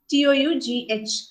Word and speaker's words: tough: as in tough right t-o-u-g-h the pronunciation is tough right then you have